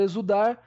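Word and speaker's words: exsudar: palavra exudar pessoal exudar na palavra exudar eu tenho o e não pronuncio o x e sim o s não tenho x zudar e sim exudar s u d a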